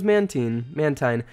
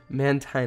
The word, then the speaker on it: Mantine: How was your trip on those Mantine? I'm going to mess that up quite a few times. Mantine, I think, is the correct way to say it.